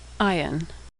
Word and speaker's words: Ayin: Ayin is silent like the letter Aleph. Ayin.